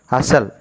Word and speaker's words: hustle: Which is the silent consonant here? T is a silent. The pronunciation is asal.